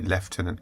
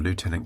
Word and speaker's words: lieutenant: a lieutenant left sorry leftenant Colonel um or lieutenant colonel for for those of you who pronounce it as it's spelled and um oh sorry